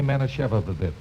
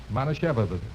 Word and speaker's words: Manischewitz: Now, let's break it up into syllables and work on it. Okay. Now, look. Repeat after me. Mana Shevitz. Shevitz. Mana Shevitz. Manischewitz.